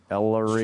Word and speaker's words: Ellery: Ellery, like ELL. It's kind of like Mellery, but with no M. Ellery.